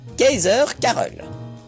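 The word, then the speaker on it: Keizer Karel: home gang charles quint charles quint se prononce en néerlandais kaiser carole il existe d'autres bières autre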